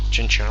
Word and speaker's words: Chinchou: Chinchou or Chinchu? I always call it Chinchou. Mostly because if it was Chew, then it would be spelled like Pikachu. So I think this is Chow.